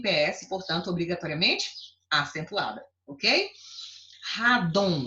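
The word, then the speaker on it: rádon: Radon, radon, eu coloquei aqui para você, ó, é um gás radioativo muito pesado, né? Muitas pessoas nem conhecem. Então, radon tá aqui, ó, paroxítona, terminada em on, obrigatoriamente acentuada.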